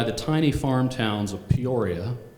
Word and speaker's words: Peoria: The place is Prairie Township, Mahaska County, Iowa, bordered by the tiny farm towns of Peoria, Puri, it's pronounced for locals, on the west, and New Sharon on the east.